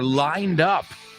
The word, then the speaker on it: lined up: Lined up is por venir, in store, or lined up. Y fijaos en la pronunciación, lined up. La D no va con line, sino con up.